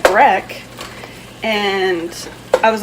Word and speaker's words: breck: But if you guys know what breck is from Albania or any other country, and we spell it B-R-E-C-K, breck. Seth calls them bricks with an I.